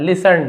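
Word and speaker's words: listen: तो लिसन यहां पर भी आप देखेंगे टी को हमें नहीं पढ़ना है। लिसन बस पढ़ेंगे।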